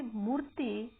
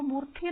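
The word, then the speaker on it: Moorthy: तो बच्चों कहानी आगे बढ़ती है कि मूर्ति, इसको मूर्ति नहीं बोलेंगे, इसको मूर्ति बोलेंगे। साउथ इंडियन जो नाम होते हैं उसमें तय की जो स्पेलिंग होती है वो TH से स्टार्ट हो जाती है। मतलब कह सकते हैं कि ये जब आप पढ़ोगे कहीं पे दूसरे नामों के, जैसे कृष्ण मूर्ति, गणपति, इस प्रकार के नाम होते हैं ना, उनमें TH के साथ ही स्पेलिंग बनती है।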